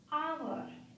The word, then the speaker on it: hour: So here H is silent.